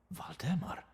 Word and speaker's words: Valdemar: V, not a W. Okay. Valdemar?